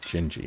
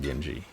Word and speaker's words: Genji: She pronounces it Gingi, not Genji. So, Gingi.